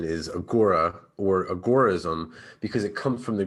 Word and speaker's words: agorism: thing i wanted to do was understand that pronunciation is what's got me because i hear agoraism agarism agorus agaris can you give me the official